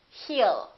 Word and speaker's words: he'll: you he will remember don't pronounce that W A lot of my students still tend to put a little W and they say he it's not he it's heal heal he'll call you he'll